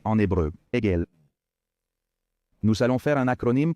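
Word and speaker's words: עגל: lettre Aïn, la lettre Gimel, la lettre Lamed, prononcée en hébreu, Egel.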